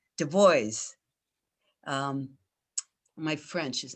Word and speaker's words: Du Bois: Oh, and how do we say it right? Du Bois.